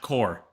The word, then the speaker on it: Corps: The word is pronounced core.